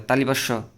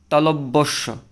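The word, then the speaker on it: তালব্য শ: র বয়বিন্দু র এইটা আরেকটা আছে তালিবাস অনেকে বলে তালিবাস তালবস এরকম বলে এগুলো হচ্ছে কি ভুল উচ্চারণ সঠিক উচ্চারণ হবা তালব্যস তালব্য স তারপরেটা আছে এইটা এটা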